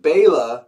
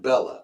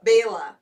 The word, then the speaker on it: Bela: But anyway, and everyone out there, it's pronounced Bela, not Bella. Bela, yes.